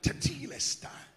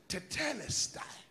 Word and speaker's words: tetelestai: who are interested there's a greek word called tatilesta or or better english pronunciation tonight it says tetelestai whatever way you want to pronounce it but but watch this